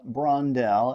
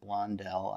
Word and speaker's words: Brondell: here's the deal i ordered a product from brondell and yes i realized that in the last video i pronounced it blondel i thank you for your comments um but